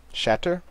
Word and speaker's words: Shatter: I like that the hard T's. There's an emphasis on the sha and on the tur. So you have to emphasize both both of them. Well, it's mainly the T's that are getting me. Normally shatter is a glottle stop instead of actually pronouncing it.